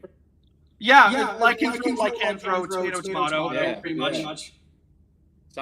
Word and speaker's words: Lycanthro: I've got the Lycanthro, or is that how you pronounce it? Yeah, Lycanthro, tomato, yeah, pretty much.